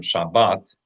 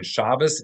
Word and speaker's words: Shabbat: That difference between Shabas and Shabbat represents that one difference between these two types of Hebrew.